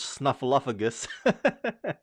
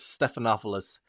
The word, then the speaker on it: Stephanopoulos: with abc news george snuffalophagus i'm sorry uh the correct pronunciation is stephanopoulos uh snuffalog snuffalopogus is that